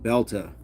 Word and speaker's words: belter: type of thing, but say it like belta. It's a belta of a day.